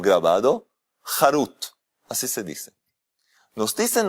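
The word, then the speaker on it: חרות: La misma palabra Harut, si se la pronuncia Jerut, en vez de Harut se dice Jerut, eso significa libertad.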